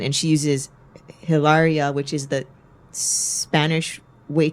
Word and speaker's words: Hilaria: so her name I think is Boy, Hilaria Baldwin.